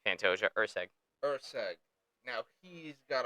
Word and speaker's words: Pantoja: uh ma Matthew Nicol to panto it's Pantoja EG EG now he's